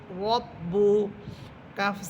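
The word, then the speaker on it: رَبُّكَ: র বা সবর রব, বা পেশ বু, রব্বু, কাফ সবর কা, রব্বুকা। এখানে বা হরফের উপরে আছে পেশ, ঠোঁট গোল করে পড়বেন, রব্বুকা।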